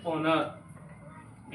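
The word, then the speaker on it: honour: भी कह सकते हैं एच है हमारा कंसोनेंट है इसको हम ऐसे बोलेंगे नर स्वर आ रहा है हिंदी में इसका प्रोनंसिएशन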